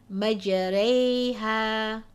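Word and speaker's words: مجريها: But this indicates that the alif or the fatha must be pronounced with a slant towards a kasra. So how do we read this? Majareha.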